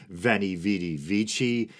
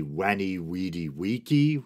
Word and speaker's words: veni vidi vici: Latin I believe the the V should be pronounced as a w so as ridiculous as